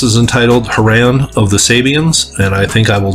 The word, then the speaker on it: Sabians: later his cult emerged calling themselves savians pronounced sabians clearly misunderstanding savism and fooling his flock.